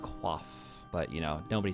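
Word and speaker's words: coif: studded bodies, studded chaps, quif or it's actually pronounced qua, but you know, nobody says that in the runescape scene, let's be honest.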